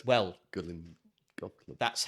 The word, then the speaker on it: Gullane: And I was like, "Hello, okay, so it's Gullane, is it?"